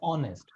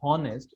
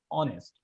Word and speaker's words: honest: honest the word is honest h is silent it's not honest it's honest okay my last question